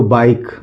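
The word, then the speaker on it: bike: आई है तो इ हो गया और के से हो जाएगा क और इ यहां पे इ साइलेंट है। तो बाइक।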